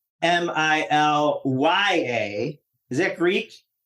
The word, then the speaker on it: Milia: Milia, even though it's pronounced Milya.